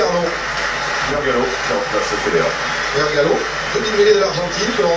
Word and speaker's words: Vergallo: Vergallo, demi-mêlée de l'Argentine que l'on retrouvera face au bleu. À prononcer comment Vergacho. Mais bon, en castillan.